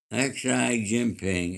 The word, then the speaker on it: Xi Jinping: Okay, Malibu, the leader of China, uh, Xi Jinping, is pronounced Xi.